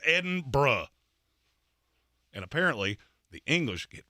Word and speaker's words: Edinburgh: Edinburgh. It's Edinburgh. There is no borough. There is no burg. There is no none of that. It's Edinburgh.